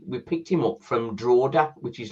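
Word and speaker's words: Drogheda: him again we we picked him up from drao which is like uh like a sister Club really our owners trlla um bought warell and then they also bought the Irish Club drao um pronoun spelled Dred which pronounced drao um so we had Evan we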